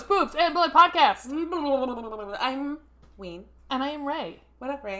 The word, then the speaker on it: Ween: It's W-E-E-N, not like the band thing. I mean, it is like the band. It's spelled the same, but yeah.